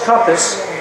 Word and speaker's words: Kumpas: Now I want to introduce Mr. Charles Kumpas, pronounced like a compass.